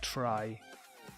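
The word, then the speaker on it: trie: helipad the Lord actually it's pronounced like try okay try ah try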